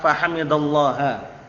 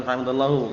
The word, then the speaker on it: فحمد الله: Bacanya jangan keliru ya. Wa idza atasa fahamidallaha. Bukan fahamidallahu. Kalau antum bacanya fahamidallahu berarti Allah Taala yang ucapkan alhamdulillah. Harakatnya beda. Artinya juga beda.